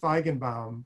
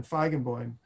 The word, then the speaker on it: Feigenbaum: the time was named well in english his name would be pronounced benjamin feigenbaum but yiddish was benjamin feigenboin and uh he was